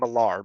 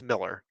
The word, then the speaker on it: Millar: revelation or Mark Miller I keep wanting to pronounced his name alar but because that's how I pronounced it forever but it's Miller Mark Miller the creator of